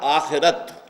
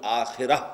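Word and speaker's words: آخرة: کلا بل تحبون العاجلہ، تم عاجلہ سے محبت کرتے ہو۔ عاجلہ آخرہ کے مقابلے میں، آخرہ آخرت جسے ہم آخرت کہتے ہیں، عربی میں اس کا تلفظ آخرہ ہوگا۔ اس آخرہ کے مقابلے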